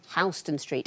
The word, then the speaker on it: Houston: Houston Street.